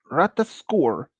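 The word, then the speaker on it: Ratatoskr: called okay this is how a rightly is pronounced d it uh ratas score travels along the tree branches to deliver messages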